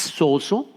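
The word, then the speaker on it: σώζω: No lo pronuncio muy bien, pero bueno, es sozo en griego.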